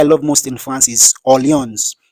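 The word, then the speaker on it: Orléans: Second City I love most in France is audience Alliance is spelled o-r-l-e-a-n-s o-r-l-e-a-n-s that's the spelling of audience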